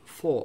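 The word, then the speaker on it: 佛: ja, Schriftzeichen für Buddha, auf Chinesisch Pho ausgesprochen, Pho.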